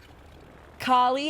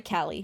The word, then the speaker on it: Callie: On that note, Carly, I also think was, or Callie, sorry, Callie. We would pronounce it as Carly.